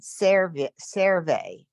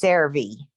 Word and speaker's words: CeraVe: I come here uh also watch the E versus I because you said cerve and it's CeraVe yes servi yeah oh my